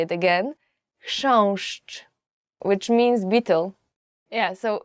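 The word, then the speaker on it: chrząszcz: will ever learn in Polish as for the pronunciation is shown I will just say it again shush which means beetle yeah so we use it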